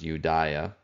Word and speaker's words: Judaea: So specifically in Greek, it would have been pronounced Judaea, but that's where we get this more Greek version of Judah from, Judea.